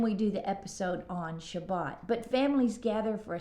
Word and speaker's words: Shabbat: Shabbat is how you say it in Hebrew.